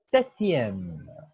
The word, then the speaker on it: septième: Il y a le P, mais on ne prononce pas.